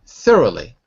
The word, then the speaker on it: thoroughly: the rly roly but three syllables th is the first th rly th rly good thoroughly thoroughly good so make sure that the r is at the beginning of the second syllable it makes it much easier not th but th R thoro thorough much better that's it that's it